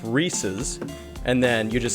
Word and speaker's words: Reese's: is so it's it it belongs to a man named rhys so it's reese's and then you just